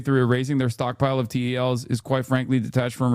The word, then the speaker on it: TEL: TEL is pronounced TEL, Transporter Erector Launcher.